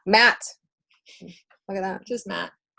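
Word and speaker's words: Maat: It's pronounced Matt. Matt.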